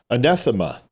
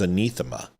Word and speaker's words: anathema: And I thought it was anathema through Christian religion. So anathema and anathema, because it's from the Greek. So the A is supposed to have an E sound. I think she's saying it wrong.